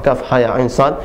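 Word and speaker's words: كهيعص: Jadi kaf 6 harokat, ya, ha dan ya 2 harokat, ain dan shad 6 harokat. Jadi dibacanya kaf ha ya ain shad.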